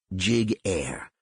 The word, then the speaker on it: Giguere: explain first of all my last name is pronounced jig air if I had a